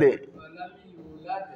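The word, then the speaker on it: ولم يولد: Walam Yulad. Wa lam yu, il faut tirer le yu.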